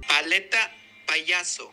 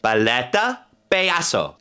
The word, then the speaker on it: Paleta Payaso: My good friend Raul was voice coaching me last night, making sure that I pronounce it correctly. Paleta Payaso. Paleta Payaso.